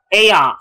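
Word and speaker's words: Aiyon: Fight will be playing Aeon, I want to say that's how it's pronounced. I haven't heard anyone say it yet. Is it pronounced Aeon? Do you know? Aeon, like Ion, they say Ion.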